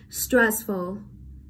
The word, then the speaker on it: stressful: Vậy chúng ta đánh luôn trọng âm vào rồi vào âm tiết đầu tiên đúng không? Stressful, stressful, đúng không?